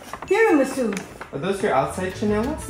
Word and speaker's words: tiramisu: It's not mocha, it's tiramisu. Are those your outside chanelas? No, I just bought it. It's not pronounced tiramisu, Mom.